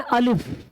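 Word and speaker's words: الف: तो इसका नाम है अलिफ। इसका नाम क्या है? अलिफ है। लेकिन इसका प्रोनाउंसिएशन जो बोलेंगे कि जब हम पढ़ेंगे उर्दू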